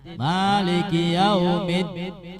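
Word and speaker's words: مالك يوم الدين: Ya, jadi bacanya harus tasdid. Maliki Yaumiddin, jangan dihilangkan. Maliki Yaumiddin, hilang tasdidnya, nggak boleh.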